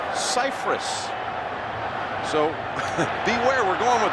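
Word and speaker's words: Scifres: to clarify that actually all these years everyone's pronounced his last name incorrectly it's Cyprus so beware we're going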